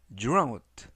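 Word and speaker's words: drought: 홍수는 많은 집을 파괴했다는 뜻이 되겠습니다 2번 표현은 dr dr dr 라고 발음하시면 되겠고요 이때 gh n 이번 단어에서 무음이라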